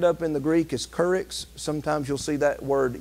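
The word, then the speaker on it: κῆρυξ: you look it up in the Greek is kurix sometimes you'll see that word used uh where Apostle is but but he was a preacher he was a courage or k Rooks actually is how that's pronounced which means to be a Herald or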